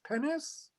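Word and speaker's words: Pines: The best English translation is someone whose name is spelled P-I-N-E-S, Pennis, from the University of Chicago.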